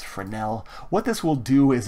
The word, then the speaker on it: Fresnel: an input for now it's not pronounced Fresnel it's Fornell what this will do